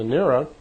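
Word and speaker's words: Nera: And Nira, and it's spelled N-E-R-A, she's a dark brunette-looking woman, very nice-looking woman, and I'd like you to meet Nira.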